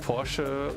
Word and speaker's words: Porsche: So I think Porsche is a German company. I mean, maybe not anymore, but it originated in Germany. And that's why I would say it's pronounced Porsche worldwide.